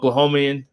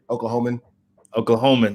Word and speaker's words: Oklahoman: What do you call it? Oklahomian? Is that how you say it? Oklahoman. Okay, another Oklahoman. Coach Paul Mills in the